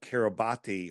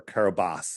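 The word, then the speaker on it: Kiribati: and it was registered to the nation of kabati or Carabas as it's pronounced but it's spelled kabati and uh like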